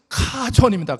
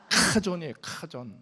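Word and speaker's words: חזון: 오늘 비전은 그 히브리어로 이 발음이 좀 어려워요. 우리나라 발음이 없는 발음이에요. 좀 이렇게 약간 기분은 별로 안 좋지만 카존입니다. 시작. 흐 발음이에요. 시작. 카 할 때 하가 나요. 시작. 그 멀리서 한지 모르는 그 히브리 발음입니다. 그래서 비전은 히브리어로 뭐라고요?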